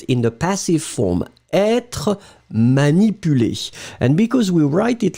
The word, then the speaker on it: manipulé: Je ne veux pas être manipulé, masculine form, accent aigu, feminine form, accent aigu, D'accord? You pronounce them exactly the same way.